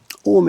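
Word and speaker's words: 青梅: Ome in English, we usually use O-M-E. The O is a U. It's O-U-O-me. O-U-M-O-U-me. It's 3 syllables in Japanese.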